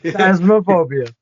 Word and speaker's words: Phasmophobia: Yeah, Phasmophobia.